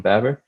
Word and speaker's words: Baber: out is roman baber i believe uh you pronounce his last name roman babber uh he released uh